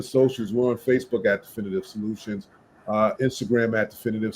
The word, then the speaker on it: Defynitive: So again, our company is definitive solutions, right? But it's spelled differently.